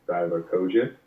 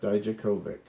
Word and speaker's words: Dijakovic: it was him versus Dominic Divakovic. Is that how you pronounce that? Dijakovic. Yes.